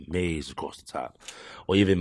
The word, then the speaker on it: Mazee: I probably have like Mazee across the top. Or even Mazee, I guess. Or do it like with the dictionary pronunciation on it. Yeah, right. Yeah, pretty much. Mazz pronounced Maze.